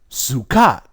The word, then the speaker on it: sukkah: If we use the Bantu language, it'll be shukut or chukut. And then we have the Jews, they say Sukkah.